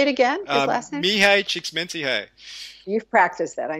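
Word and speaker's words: Csikszentmihalyi: I'm so good could you say it again me hi cheeks minty hey you've practiced that I know I have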